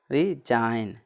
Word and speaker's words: resign: ठीक, और नेक्स्ट देखिए नेक्स्ट है RESIGN, ठीक, लास्ट में है ना जी एन, तो इसका क्या हो जाएगा रिजाइन, RESIGN रिजाइन मतलब त्याग पत्र देना, RESIGN रिजाइन, रिजाइन मतलब त्याग पत्र देना।